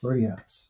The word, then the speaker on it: Bordeaux: As it's known, it's called Birdie House, but it's spelled Bordeaux House. Place. Bordeaux Place. Bordeaux Place. Yeah. And the Scottish took a French name and said, you know what? Yeah, there's a house. We'll make it Birdie.